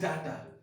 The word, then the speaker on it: data: अब इंग्लिश बोल रहे हैं दिस इज डाटा, अरे यार this is नॉट अ डाटा, this is डेटा।